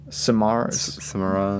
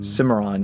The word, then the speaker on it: Cimarron: spirit stallion of the samara cimarron yes that is correct okay i was like